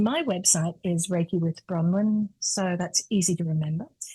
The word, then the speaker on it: Bronwen: spell it right now b r o n w n raiki with bronwin see how clearly I said that now write it down